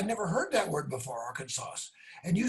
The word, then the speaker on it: Arkansas: And you said you're going to go to Arkansas. Arkansas. And I said, Arkansas? What on earth is an Arkansas? I don't know. I never heard that word before, Arkansas.